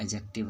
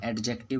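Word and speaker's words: adjective: फिर जहाँ DJ एक साथ आएगा तो वहाँ D साइलेंट रहेगा। जैसे कि एडजस्टमेंट वगैरह होता है, एडजेक्टिव होता है, एडजेक्टिव बोलते हैं हम लोग, जो कि गलत है, उसको हम लोग एडजेक्टिव पढ़ते हैं। और फिर आपका हो गया एडजस्टमेंट होता है, जो कि एडजस्ट बोल सकते हैं, एडजस्ट पढ़ा जाता है, इसको D यहाँ पर साइलेंट रहता है।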